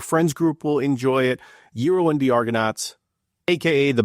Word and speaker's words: Gyro: So, again, Euro and the Argonauts pronounced hero.